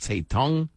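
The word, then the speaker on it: Zedong: in every room again some spell it or pronounce it say Tong I pronounce it Z dong like they haven't written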